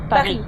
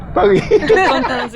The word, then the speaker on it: Paris: matters a lot here Just like Paris and in French "Peghi" "Peghi" I stay here one